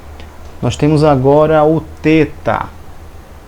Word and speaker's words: teta: então esse th aqui alguns vão pronúncia a ele como um th em inglês como fim e não como um ter em português você pegar por exemplo